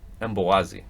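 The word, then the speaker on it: Mbokazi: So the K is silent in the last name. Got it. Beazeli. Beazeli. Emboazi.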